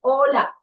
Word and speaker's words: hola: Hola. They don't say hola, they say hola. Now see in different languages they pronounce it in a different manner and in Spanish h is normally silent.